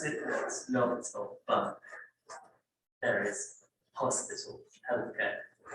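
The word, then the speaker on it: L'Hôpital: That's why it's It's silent, but the S is there. We pronounce it as Lobthor, but there is hospital, healthcare.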